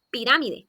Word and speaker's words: pirámide: Como por ejemplo la palabra pirámide. Esta palabra tiene su sílaba tónica en la antepenúltima sílaba y marcamos su tilde.